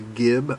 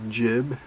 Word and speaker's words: gib: here that swings down is called the Gib or the jib depending how you want to pronounce it and this is